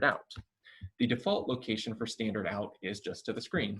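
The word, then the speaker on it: stdout: goes to std out which is pronounced standard out so the std stands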